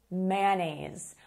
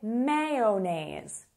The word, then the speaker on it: mayonnaise: It is mayonnaise. Or, as some people say, mayonnaise. Both are correct.